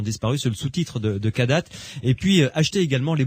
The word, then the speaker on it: Kadath: Allez sur leur site kadat.be, Kadat ça s'écrit KADATH.be.